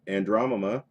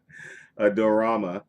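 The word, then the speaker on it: Adorama: You can go to Andromeda. Did I pronounce that right? Oh my gosh. Dorama.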